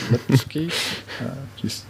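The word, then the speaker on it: Lipský: check out the film happy end by uh lipsky that's how it's pronounced it's has a very similar uh concept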